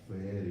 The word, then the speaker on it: very: decían la very well, tienes que pronunciar como con F, very well. Entonces ya el que me dice que con B de vaca, con B de burro, digo, el burro es usted.